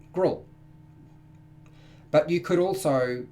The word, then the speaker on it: Grol: I pronounce something so his name is G grol gruel now I pronounce that grill but you could also